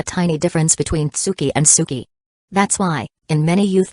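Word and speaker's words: 好き: Not Tsuki, but Suki. Say it like this, I like you.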